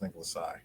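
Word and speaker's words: Nicholas Tse: i don't know yeah that's actually how his name is pronounced as nicolas sai nicholas i'll probably get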